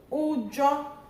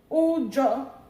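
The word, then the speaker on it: ujọ: So ujo, high, or ujo, high mid.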